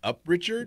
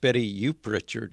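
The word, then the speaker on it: Betty Uprichard: It's actually pronounced Betty Youp Richard. Youp Richard fit right into there, Greg. That's right. Betty Youp Richard. Youp Richard, okay. That's how the British actually say it now.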